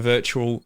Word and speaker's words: Virtua: you essentially play the new game with a virtual i was going to say it wrong again